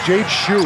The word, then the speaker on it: Jade Shu: We confirm the pronunciation of his name. It's Jade Shu, number one in pink.